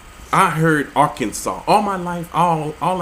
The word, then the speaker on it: Arkansas: for breaking the law the final s silent Arkansas not sauce Arkansas Arkansas the a in